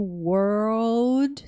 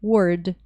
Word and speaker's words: world: então World no mundo Lembrando que o World você tem que falar o World tem que falar RL aqui tá para não ficar aparecendo palavra Word e não tenho L